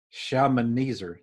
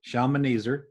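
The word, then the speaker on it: Shalmaneser: Old Testament names but this is how you pronounce the name okay the first choice is shaman eezer shaman easer and then the second choice is Sargon and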